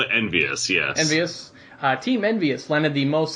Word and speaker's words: EnVyUs: I've never known how to pronounce it. Is it Team EnvyUs? I've always called it EnvyUs. Yes, EnvyUs.